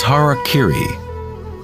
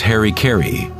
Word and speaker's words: harakiri: In the samurai tradition, one form of ritual suicide, or seppuku, was harakiri, was often mispronounced as harikari.